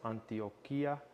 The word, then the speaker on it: Antioquia: Uh I think it's pronounced Antiochia. Uh tropical chiroso.